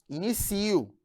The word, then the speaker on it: inicio: Aí você tem aqui, ó, a palavra início, que é diferente de inicio. Aí você tem aqui a sílaba tônica e aqui na sílaba tônica com o acento gráfico e aqui o acento prosódico. Em início eu tenho substantivo e em inicio eu tenho verbo.